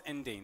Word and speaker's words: Endine: It's the, and I'm probably going to pronounce this wrong, so please excuse me if I do, but Endine or Endian? Endine. Okay, I've been told it's Endine, the Endine family window.